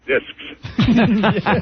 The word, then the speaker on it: discs: during a condom read you have to pronounce the s in discs yeah you do later